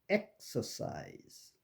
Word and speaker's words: exercise: 인데 중요한 거는 이 EKS에서 K와 S 사이에 음절이 끊어집니다. 그러니까 exercise가 아니고 exercise, extra, expedition 이런 식으로 음절이 X의 중간에서 즉 K와 S 사이로 끊어지는 것을 유의하셔야 됩니다.